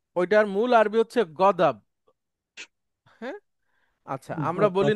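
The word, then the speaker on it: غضب: আচ্ছা, ওই দতকে আমাদের দেশে অনেক সময় বর্গীয় জ বা অন্তর্জ দিয়ে বলে, যেমন আমরা বলি না গজব, জি জি। ওইটার মূল আরবি হচ্ছে গদাব।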